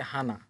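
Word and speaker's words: 하나: তো কিভাবে হানা হলো? এটা হচ্ছে হিউত, এটা হচ্ছে হিউত। যেহেতু হিউত উপরে আছে তার মানে হয়ের সাথে হা। এরপর এটা হচ্ছে নিউন, নিউন যেহেতু উপরে আছে প্রথম বর্ণ উচ্চারণ হবে ন, তাহলে নয়ের সাথে না, হয়ের সাথে হা, নয়ের সাথে না, হা না। হানা মানে এক।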